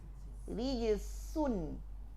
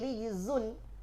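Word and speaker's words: رجز: Nah, kita tidak berikan jahar pada sifat pada huruf zai, maka yang datang apa? Hams. Jadinya bagaimana? Rijsun. Tidak lagi rijzun. Rijz.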